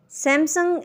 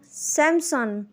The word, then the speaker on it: Samsung: Samsung is wrong. Samsung.